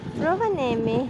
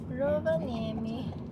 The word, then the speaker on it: Rovaniemi: We made it to Rovaniemi.